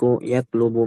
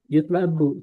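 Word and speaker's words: يُطْلَبُ: Kalau antum bacanya ylub, yatlub itu menuntut. Berarti kalau dibaca yotlub itu pas enggak kira-kira? Buah dia coba ini yatlub atau yutlab? Yutlabu. Yutlab. Iya yutlabu ya yutlabu minhu.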